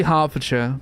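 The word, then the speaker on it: Hertfordshire: You say Harfordshire, but it's spelled like Har the first one.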